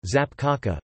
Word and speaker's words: zapiekanka: A zapiekanka, Polish pronunciation, zapkaka, plural, zapiekanki, pronounced zapkak-i, is an open-face sandwich